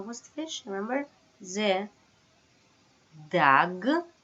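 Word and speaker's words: דג: Right, dag.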